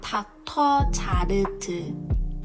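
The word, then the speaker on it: Dr.Jart+: Dr. Jart, Dr. Jart. Remember the R sound in Dr. Jart is L, but here the R we really pronounce it, so it's Al.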